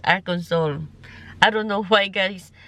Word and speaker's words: Arkansas: So nandito na tayo ngayon sa Arkans pero ang ko dati yan is Arans pero ang correct pronunciation nila is Aran Soul.